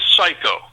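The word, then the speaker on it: 最高: So the LP is called, the name of the LP is Osaka Psycho. Okay? Oh. Now, it's spelled S-A-I-K-O-U. That's when they say psycho. That's a Japanese word.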